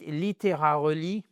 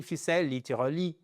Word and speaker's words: literally: Donc ici c'est pas parce que si vous dites littéra relie nobody understands you very important people understand you literally literally literally literally literally